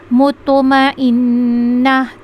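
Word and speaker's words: المطمئنة: यहां पे एक अलिफ मुतमा इन त का ख्याल रखिएगा। ता को पुर करके पढ़ना है। मुतमा इन नून है तो गुना भी करेंगे।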